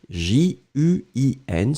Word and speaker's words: juin: ce serait sympathique donc juin on l'écrit j u i n souvenez-vous nasal pas de haine prononcé juin d'accord et puis l'année